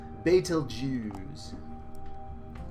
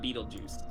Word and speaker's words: Betelgeuse: Ryan okay now it's if you say it correctly its fatal Jews they know Jews and look here we are not beetlejuice right so here's the